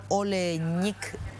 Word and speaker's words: Oleñik: que la gente entienda también Quién es Carlos oleich así se pronuncia que en algún momento fue detenido creo